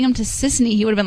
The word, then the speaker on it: Sissany: Is it Tiffany? No, it's Sissany.